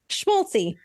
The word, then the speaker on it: schmaltzy: So our word of the day today is, oh, God, schmaltzy. Schmaltzy. Schmaltzy. It's spelled SCHMALTZY. It is an adjective, and it is pronounced schmaltzy, as in vision.